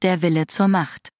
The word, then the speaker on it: Der Wille zur Macht: Xenosaga Episode 1, Der Wille zur Macht. Is that how you say that? I think so. German FakeNet, can you help us out? FakeNets initialisieren. Yes. It is pronounced Der Wille zur Macht.